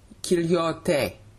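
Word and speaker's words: כליות: Kilyote. Kilyote. The word highlighted in blue is pronounced kilyote.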